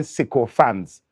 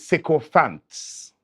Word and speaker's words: sycophants: s-i-k-o and space f-a-n-s and they call it sicko fans that is not a word that is disgusting stop it the word is sycophants there's a way to spell it and there's